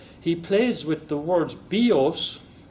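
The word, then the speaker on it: βιός: But he plays with the words bios. Bios with the accent on the O is a bow, but bios with the accent on the iota, the I, is life.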